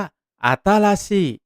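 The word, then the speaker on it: あたし: เสียง ด้ว ใหม่ ภาษา ญี่ปุ่น ออก เสียง ว่า อาตาชิ พูด ตาม ครับ อาตาชิ อาตา ซี่ ซี่ อิ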